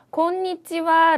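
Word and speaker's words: こんにちは: 예를 들어서 곤니치와 라는 점심 인사. 그럼 몇 박이죠? 곤니치와. 니치와. 약간 어색하다는 거 저도 잘 알죠. 그런데 꼭 5박 지켜서 발음을 하셔야 훨씬 더 예쁜 일본어가 된다는 거 기억을 해주시고요.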